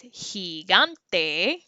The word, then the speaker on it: gigante: so if we say the word giant which is higante you hear a ha and sound gigante does mean giant